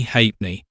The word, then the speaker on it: halfpenny: This brings us to the city of Tank, which is pronounced Tonk for the same reason apparently that the English call halfpenny Ha'penny and St.